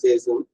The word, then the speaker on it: chasten: அவன் வந்து ஒன்று இல்லைன்னு பண்றது தண்டனைகளுக்கும் சேசன். இந்த டி வந்து சைலண்ட் மறந்துறாங்க. சேசன் பிரிட்டிஷ் உச்சரிப்பு படிச்சிடாதீங்க, சேசன் படிக்கணும்.